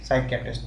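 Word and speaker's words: psychiatrist: साइकेट्रिस्ट, PSYCHATRIST, ठीक है, साइकेट्रिस्ट, P silent होता है इसमें, ठीक है, साइकेट्रिस्ट, ठीक है, बात समझ आए।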